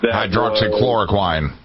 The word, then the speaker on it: hydroxychloroquine: Hydroxychloroquine. Yes, that's how you pronounce it.